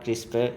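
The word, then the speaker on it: CRISPR: Ribosome DNA replication और क्रिस्पर ये सब क्रिसपर इसे प्रोनाउंस किया जाता है टेक्नोलॉजी।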